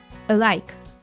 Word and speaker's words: alike: The A from alike is reduced to a schwa sound, alike, alike, and the K sound is linked to the following vowel.